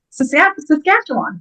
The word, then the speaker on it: Saskatchewan: Saskatchewan. No. Thank you. Yes. It's Saskatchewan. That's why she's the best. Pretty good, though. She was soft on that first syllable, so I'll accept it.